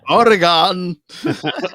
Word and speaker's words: Oregon: Oregon. It's like a gun.